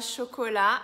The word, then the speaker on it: chocolat: E na palavra chocolat, a gente tem um T no final e esse T é mudo.